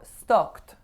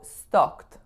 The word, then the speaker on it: stoked: So in this one, I needed to round my O vowel more. It's not an O, it's an O. O.